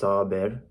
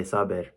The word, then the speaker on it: Saber: So obviously my name's Sabir, and obviously my name's Arabic, so it's pronounced Sabir, but because I'm Bengali, we say Sabir.